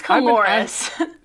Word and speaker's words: Coulouris: It's Coulouris.